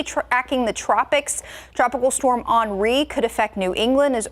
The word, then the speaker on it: Henri: And Henri is how it's pronounced. Yes. I've actually been called Henri before.